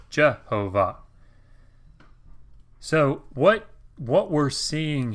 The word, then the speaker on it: Jehovah: not a word right the Masri's weren't anticipating anybody pronouncing this Jehovah what they were anticipating is that you would see the Tetragrammaton here and you would say no I'm not supposed to pronounce Jehovah I'm supposed to pronounce I don't I but instead if you combine these consonants with these valves you get this weird amalgamation Jehovah Jehovah hopefully that gives you